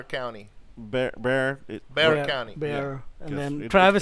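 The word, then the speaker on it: Bexar: Antonio, that Behar County. Bear. Bear County. Bear, Yeah, and 'cause then it- Travis it's is.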